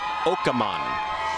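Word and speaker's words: Akerman: Because you did go on Conan O'Brien, and it did sound like you were saying it was Åkerman.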